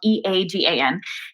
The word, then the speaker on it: Eagan: And now I'm like pals with Susan Egan, going like, it is spelled differently. My town though is called Eagan.